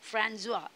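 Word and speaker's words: François: देखो प्रोनाउंसिएशन में थोड़ा सा ध्यान देना. वॉल्टेयर्स ओरिजिनल नेम, वॉल्टेयर का रियल नाम है फ्रांजुआ. ये देखो फ्रांजुआ पड़ता है उसको, सी के नीचे एक एस जैसा छोटा सा एक पार्ट है, बराबर दिख रहा है.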